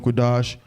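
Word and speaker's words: קדש: get that crap there the real word is la shawan la shawan quidash which means tongue holy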